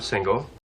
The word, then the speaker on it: single: I'm single. Queremos subir la entonación en la primera sílaba de single.